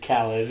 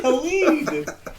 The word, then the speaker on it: Khalid: I just heard something recently where somebody was pronouncing his name Khaled, and it made me so mad. I was like, no, it's Khalid. He is Khalid.